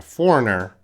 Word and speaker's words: foreigner: another country and a foreigner remember the pronunciation we don't we don't pronounce the G foreigner is a person